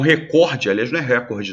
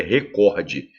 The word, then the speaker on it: recorde: já que há um recorde não hein pessoal é recorde se fosse recorde seria proparoxítona seria com acento na realidade a sílaba tônica é cor eu tenho uma vírgula